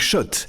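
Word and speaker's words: Schott: Jouer et gagner sur RMC avec Shot, la marque iconique new yorkaaise depuis 1913. Oui, Shot et pas Scott. Ça fait des années qu'on prononce mal la marque.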